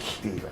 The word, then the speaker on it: Stefan: spelled Stefan, but I pronounce it Steven.